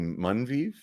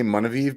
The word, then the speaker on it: Munviv: When I was talking to, I think her last name is actually Munviv, Heather Munviv. Have you ever seen her on YouTube? Yeah. But I always say Munaviv because I just feel like it should have another syllable in it.